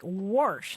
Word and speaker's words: wash: hail from Arizona so pronouncing W like warsh huh uhhuh kind of sounds like you have a mouthful of marbles huh sounds like you